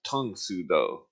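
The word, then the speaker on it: Tang Soo Do: Yeah, my friend said it's actually pronounced tongue sudo. It's the fighting style. Yeah, he says the A is U sound.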